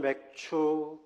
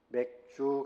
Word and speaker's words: 맥추: 오늘은 맥추 감사절입니다. 발음을 잘해야 돼요. 맥주 감사절이. 맥추 감사절입니다.